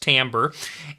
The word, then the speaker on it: timbre: Remember that word's pronounced timbre.